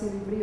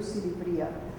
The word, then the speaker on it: Silivri: Silivri, it's pronounced Silivri or Silivria.